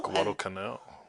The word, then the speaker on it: Guadalcanal: Anyway, So my son actually put himself into the state of war by reading a book about Guadalcanal. Guadalcanal.